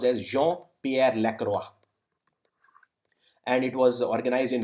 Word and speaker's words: Jean-Pierre Lacroix: This is pronounced as Jean-Pierre Lacroix.